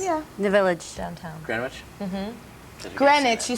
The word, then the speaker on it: Greenwich: Greenwich. You said Greenwich. Greenwich. Bob. That's all right. Sorry. The W is silent.